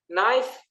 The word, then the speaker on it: knife: Knife, K silent.